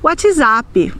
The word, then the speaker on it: WhatsApp: Por exemplo, nós nunca vamos dizer no Brasil WhatsApp, nós vamos dizer WhatsApp, ou simplesmente Zap, ou carinhosamente Zap Zap.